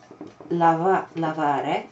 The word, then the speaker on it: lavare: I'd have to take this verb lavare, which means to wash. Attenzione, perché lavorare non vuol dire to wash. Lavorare vuol dire to work. Okay, that's something often, students get mixed up. Lavare with three syllables.